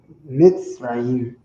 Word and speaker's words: Mitzrayim: Mitzrayim. That's how they say it in the Bible.